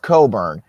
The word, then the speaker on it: Cockburn: spelt cockburn it's pronounced coburn i've never seen a name where the c and the k in the middle of the name are just silent so like you can